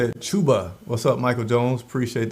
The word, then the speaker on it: Chuba: Chuba. That's how you say it. Chuba.